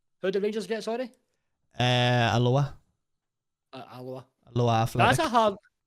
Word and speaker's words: Alloa: Rangers versus Alloa, which sounds like it's from Hawaii, not Scotland.